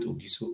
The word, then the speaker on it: Ogiso: We call it Ogiso or Ogiso, anyhow we pronounce it.